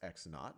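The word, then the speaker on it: x₀: is x sub well this is pronounced x knot or this x sub0 is just x knot.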